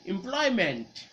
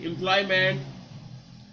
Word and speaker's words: employment: In English, we don't say employment. We actually say it like this word, M-I-N-T. Employment, like a breathment. So all of these words you must spell with M-E-N-T, but your pronunciation is going to be M-I-N-T.